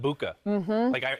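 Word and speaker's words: Egbuka: And they got a star with Emeka Buka. I remember Gronk. You got to make him a boo. A boo. Yeah, easy way to remember the G is silent.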